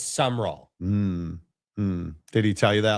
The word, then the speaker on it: Summerall: That should be 3 syllables, but it's just 2. Yeah, it's not Summerall, it's Summerall.